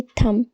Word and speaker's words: thumb: THUMB को हम पढ़ेंगे थम। DUMB को हम पढ़ेंगे डम। तो फ्रेंड्स, यहाँ पर आपने देखा है एम के बाद बी आया है तो हमने यहाँ पर बी को साइलेंट लिया है।